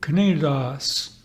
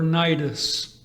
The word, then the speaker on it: Cnidus: Technically, in the Koine Greek, Knidos, commonly pronounced, however, Cnidus.